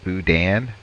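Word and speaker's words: boudin: thank you uh what is okay so it's pronounced buan buan all right pronounce Budan at least and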